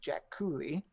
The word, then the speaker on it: Jaculi: It is I am even saying the name wrong. It's the Jack Cooley.